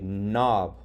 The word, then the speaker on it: knob: When there's a K and then an N, the K is silent and you sound out the M. That's why you would say knob, ignore the K.